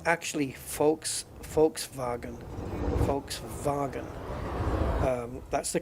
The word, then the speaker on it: Volkswagen: yeah Volkswagen is like the Germans pronounce the v's like the F and the W's are like the v's so it's actually folks folks vagen Volkswagen um that's the